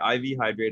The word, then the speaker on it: IV Hydrate: Okay, IV Hydrate, an on-demand and on-site mobile health, pharmaceutical, and wellness service provider across the United States.